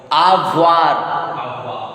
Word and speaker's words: avoir: So how to pronounce this verb? You already know that OE will make wa sound. And this is final pronounced consonant air. So air will be pronounced.